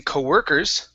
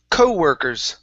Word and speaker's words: co-workers: the word co-workers so instead of stressing the end of the word saying co-workers it's co-workers co-workers that's it very nice